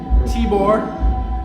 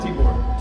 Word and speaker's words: Tibor: Got my man Tibor, and we're just hanging out. How you doing? Pretty good, pretty good. Now, how do we say your name? Tibor. Tibor, I said it right.